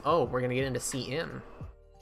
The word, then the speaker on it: cin: Pronounced cin for character input.